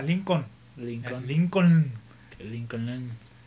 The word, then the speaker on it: Lincoln: Sí, que incluso aquí luego nadie lo sabe pronunciar. ¿A qué calle vas? ¿A Lincoln? Lincoln. Es Lincoln.